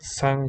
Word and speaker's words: 상: So the formula is 서로 상, pronounced sang for the hanja.